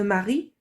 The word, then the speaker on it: Marie: Le E de Marie ne se prononce pas.